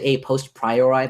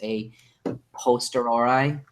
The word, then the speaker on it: a posteriori: I always say a post priori, but that's not true. It's a posteriori.